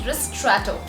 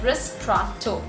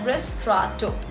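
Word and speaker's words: ristretto: chocolates another coffee is ristrato now ristrato is the spelling of this particular coffee but the correct pronunciation of this particular coffee is ris trotto it's pronounced as wrist straw two and it comes in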